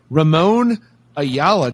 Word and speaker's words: Ramon Ayala: we have giovanni in the hired guns with ramon ayala like that is that is that a proper pronunciation yes that's him he's the he's basically